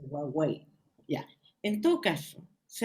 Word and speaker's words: Huawei: Huawei, ¿cómo se pronuncia? Huawei.